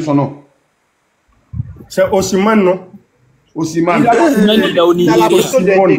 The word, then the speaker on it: Osimhen: Osimhen. Il a la photo de quelqu'un là sur son profil. Laissez-le. Je vous ai dit, laissez-le, non? Voilà. Osimhen n'est pas là, son Osimhen est là.